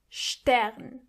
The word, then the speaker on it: Stern: Together they are scht. For example, Strasse. Strasse. Means street. Or Stern. Stern. Which means star. And also like Stift. Stift. Which means pen.